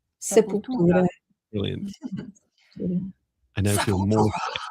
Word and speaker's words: Sepultura: sure I spent my teenage years calling them Sepultura or something. And it's like, there's so many interviews where people say, "How do you pronounce?" Do you know Viviane? How do you pronounce their name? Sepultura. Sepultura.